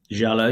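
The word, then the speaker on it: giallo: of like some like do you pronounce them Gallo jalo films jalo yeah the Italian jalo films yep yeah in terms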